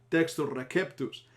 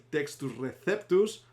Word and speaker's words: Textus Receptus: Ahora, fijaros cómo lo he pronunciado en latín según la pronunciación eclesial, Textus Receptus. Para nosotros, que hablamos lengua castellana, sería el Textus Receptus o texto recibido.